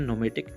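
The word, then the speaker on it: pneumatic: है आपका second number नोमेडिक एक्ट यहां पर पीस साइलेंट है इसलिए यहां पर पी को साइलेंट रखा गया है इसे बोलते हैं नोमेटिक एब्सर क्या होता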